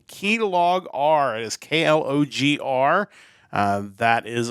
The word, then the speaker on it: Klogr: It is named after a psychophysical law, S equals K log R, which has to do with like stimulus and how it is affected in the brain. So definitely that's why it's pronounced Klogr.